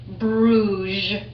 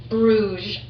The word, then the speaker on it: Bruges: Those of you who are still sounding out, B-R-U-G-E, and it has a silent S. Bruges, Bruges.